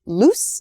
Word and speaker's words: loose: the last pair is loose and lose loose and lose you can hear maybe the the difference in vowel sound loose and lose so loose is an